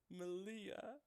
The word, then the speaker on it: Meleah: response you say my name Mitchell say it Malia I'm proud of you yeah I'm gonna like